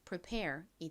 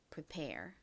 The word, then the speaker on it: prepare: 그래서 연결하면 prepare이 됩니다.이 단어 역시 뒷부분에 강세가 있어요. prepare.